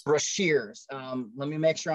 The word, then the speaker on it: Brashears: and looked about it it is spelled b-r-a-s-h so brash ears e-a-r-s brash ears that's her that is